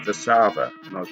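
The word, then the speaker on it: Warszawa: would say warsaw and i was told it's not warsaw it's the sava and i was like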